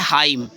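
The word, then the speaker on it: hymn: शब्द ऐसे होते हैं जैसे जैसे क्या है हाइम क्या है फ्रेंड्स हाइम एवाई एम ए ठीक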